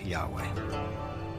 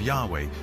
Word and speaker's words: Yahweh: and his name was these four letters which in English would be YH wh which we think were probably pronounced something like Yahweh but Yahweh only appears